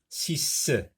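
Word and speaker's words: six: 6, X se lit S.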